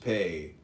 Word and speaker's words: Pe: P eh pronounced pay transcribed as p the number 80 meaning mouth.